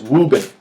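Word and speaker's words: Wuben: No, that's not me mispronouncing. The company's name is Woobin, and they are a producer of some really, really, really sweet flashlights.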